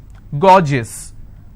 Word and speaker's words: gorgeous: i have a word gorgeous so gor jis two-syllable i will stress on gore s-i-o-n tension pension so